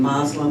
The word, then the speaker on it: Muslim: And the correct pronunciation is Muslim, but you'll hear everything from Muslim to Muslim to, and I think part of that derives from the fact that, in the Arabic language, there's one way to spell that word. But when you're transliterating, from the Arabic alphabet to the Latin alphabet, sometimes it gets spelled M-U-S-L-I-M and sometimes M-O-S-L-E-M, and so you get different pronunciations.